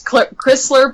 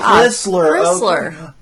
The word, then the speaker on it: Crisler: You all are not the first people to get my last name wrong. It's Crisler, but that's okay. Crisler. Okay. Yeah. Not associated with the car at all.